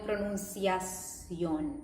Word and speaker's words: pronunciación: es la pronunciación, and they don't go with pronunciación, like fixing this S and not keeping the English shun, right?